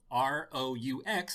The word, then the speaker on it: roux: Fact, this kind of sauce is spelled R-O-U-X, but is pronounced roux. It rhymes with do, as in do not make any plans later.